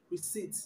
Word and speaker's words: receipt: now the word receit the P before T is silent most times when you have P together in a words the p is usually silent so the word receipt is not receipt but receipt the p is silent